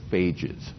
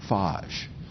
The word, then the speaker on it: phage: You could also describe these viruses as phages, okay? The British pronunciation, and I suppose the Australian pronunciation, is phage, right?